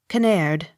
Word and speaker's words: Kinnaird: Kinnaird. Accent on last syllable.